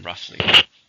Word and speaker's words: roughly: approximately it's an adverb how many syllables are in roughly to stress on the first roughly there are roughly